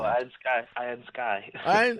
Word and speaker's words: Iron Sky: How do you pronounce that? Iron Sky. Oh, my God. Woo! Iron Sky, yeah.